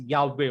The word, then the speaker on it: Yahweh: इफ यू सी इन एनसायक्लोपीडिया ऑफ जुडायका, they have given clear cut there that this name, the true name, true God, the pronunciation is Yahweh only.